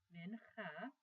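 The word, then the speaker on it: מנחה: 2 it's called the men ha the Mempa is the meal offering but the word binhai is very very interesting in english it's spelled like this like it sounds men ha and in Genesis 3214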